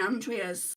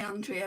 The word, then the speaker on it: Andrea: Well, my name is actually Andrea, but there's too many Andreas. Like in where I live, people call me Andrea, but in Europe, where my name is from, my mum's from Germany, it's pronounced Andrea.